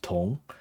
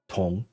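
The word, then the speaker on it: 铜: So this is also pronounced tong, and it means copper because the word for copper is pronounced tong.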